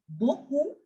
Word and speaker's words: beaucoup: Again, the P in the end is for decoration. We will not pronounce this P because it was not there in the CRFL rule. Merci beaucoup. Merci beaucoup. P is completely silent. You will end the pronunciation at U only.